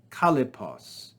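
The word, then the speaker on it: Kallippos: Kalipos, 3 syllables, is a name for a single idea.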